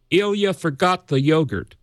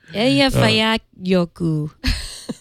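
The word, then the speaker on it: Eyjafjallajökull: the other day, and you're ahead of the game to not look at the spelling and just say Ilya forgot the yogurt. And that's a lot closer than trying to pronounce it from the spelling.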